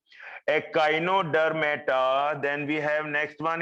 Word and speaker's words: echinodermata: then we have phylum echinodermata echinodermata take the pronunciation from me i'm pronouncing it so completely you can pick up these pronunciations a kino der meta then we have next